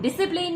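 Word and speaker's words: discipline: डिसिप्लिन में सी silent है।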